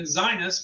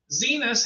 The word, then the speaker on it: Zinus: In fact, the Zenus, and it's pronounced Zenus. I thought it could have been Zinus, but it's Zenus because that's what the video says.